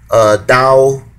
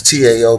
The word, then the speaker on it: Tao: The Jewish Connection, Tao of Mystics. That's Tao, but it's pronounced Tao.